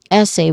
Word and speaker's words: essay: Essay which is two syllables which on the first word I mean first syllable. The first syllable is e uh s. Uh the first syllable is s. Our stress syllable here which has a short a vowel sound and a hissing sound at the end of course. And then the second syllable is a.